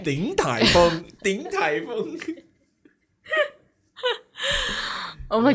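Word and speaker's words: 鼎泰丰: 鼎泰丰. Wait. Wrong. You always go for that one. You think that you're pronouncing differently, but you're still going for that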